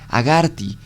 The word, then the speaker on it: Agartha: mongol le había contado que agartha se pronunciaba en realidad haga arte con y latina y que se asociaba